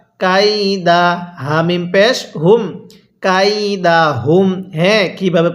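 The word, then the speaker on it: كيدهم: এরপরে কাফি ইয়া জবর কাই দাল জবর দা কাইদা হা মিম পেশ হুম কাইদাহুম হ্যাঁ কিভাবে পড়বো আলাম ইয়াজাল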